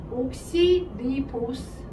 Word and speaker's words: 디옥시리보스: 얘를 줄여서 2번 탄소의 디옥시리보스 하는 거야 대라고 읽어 주는게 원래는 맞는데 이게 한자 이제 음성 표기가 디나 대나 거의 비슷하니까 아 디옥시리보스 근데이 보스를 여러분 데는